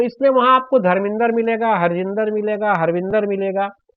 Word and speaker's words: धर्मेंद्र: तो आप यूं समझिए, कभी भी पंजाबी जो सही प्रोनाउंसिएशन करता है वो धर्मेंद्र नहीं कहता, वो कहेगा धर्मिंदर। वो इसी वजह से, क्योंकि ये द्र जो है ये उनके गुरुमुखी लिपि में संयुक्ताक्षर होता ही नहीं है।